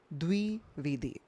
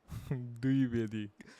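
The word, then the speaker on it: Dwivedi: surname pronounce किया है इट is called as द्विवेदी द्विवेदी डी डब्ल्यू आईवी ईडी I please से इट द्विवेदी you said it यू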